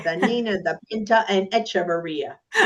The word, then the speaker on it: Echevarria: Welcome to the podcast, Echavaria. Now, let me make sure your last name I pronounced it correctly.